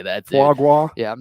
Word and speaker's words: foie gras: By the way, apparently I'm pronouncing foie gras wrong. Someone says it's foie gras.